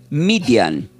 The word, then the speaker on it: Midian: Madian del hebreo se produce se pronuncia como median, que ya no es con ni eh latina,